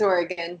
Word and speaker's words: Oregon: It's Oregon. Because I'm from Pennsylvania. We don't have the greatest of educations. Okay, here's one. I mean, I guess people might say it Oregon, but we say Oregon.